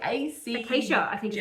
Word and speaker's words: Acaeja: So Acacia is how I pronounce it, I think.